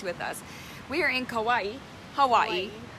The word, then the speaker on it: Kauai: We are in Kauai, Hawaii. Don't you love how it rhymes? Kauai, Hawaii.